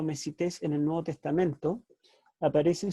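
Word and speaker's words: μεσίτης: La palabra mediador en el Nuevo Testamento, en el idioma original en griego, es la palabra mesites, en realidad mesites, tiene el acento en la iota, mesites.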